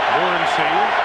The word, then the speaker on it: Morency: Morency, the way he said he wants it pronounced, alone in the backfield.